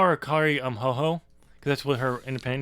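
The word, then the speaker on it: Hojo: But it's spelled like Jojo, I believe. But it's technically pronounced Ho-Ho.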